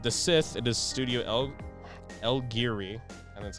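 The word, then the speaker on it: El Guiri: So for the episode The Sith, it is Studio El Giri, and that's how you say it.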